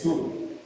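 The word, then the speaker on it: Tzur: Sur se podría pronunciar como con Z, esa T-S, es Sur, o roca.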